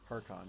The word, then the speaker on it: Harkon: Harkon, yeah. Harkan. Not Harkan. It's spelled with an O.